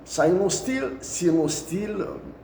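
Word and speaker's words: Sinosteel: Pour Gara Djebilet, c'est la société Sinostil pour la prononciation, SIONOSTEEL, qui a pris le projet.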